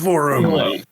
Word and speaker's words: Vorum: It's Vorum. Pronouncing that right. Uh, you are. Yes. It's like forum but with a V.